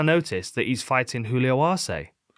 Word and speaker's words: Arce: So why do we say Darce and Arce and not Darce or Arse? Because no one says arse. We do in England a lot. I mean, it's spelled with an S instead of a C.